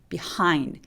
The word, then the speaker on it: behind: 두 번째 단어는요 behind 강세가 이음절에 와서 비하인드 아니고 비하인드 behind 이렇게 하라고 소리 내주세요 하 비하인드